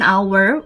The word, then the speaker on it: hour: umbrella, an apple, and an hour where the H is silent.